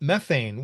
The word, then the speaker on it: methane: I have to use the proper British pronunciation, but they're never talking about methane, which is many times more potent than carbon dioxide.